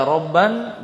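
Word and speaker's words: رَبًّا: Bisa dibaca robban, bisa dibaca robba ya. Jadi insyaallah bisa dibaca salah satunya, robba atau robban ya.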